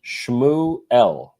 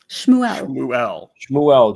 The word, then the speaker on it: Shmuel: So it's Shmuel. Shmuel. Just think of it like cow goes moo and then L. Shmuel.